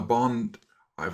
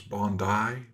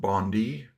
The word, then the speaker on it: Bondi: And uh we are going to follow up on the bond. I've learned it's Bondi Beach attack, not Bondi. Uh Aussies have funny ways of pronouncing things and so it's Bondi.